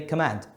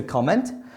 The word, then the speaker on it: comment: it's a comment but whenever it's a verb I would stress the second soul and say command which is wrong because it's still to comment and that is one